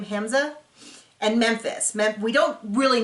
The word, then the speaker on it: Hamza: And the last couple that we really saw in this episode is Hamza, I believe is how you pronounce his name, Hamza, and Memphis.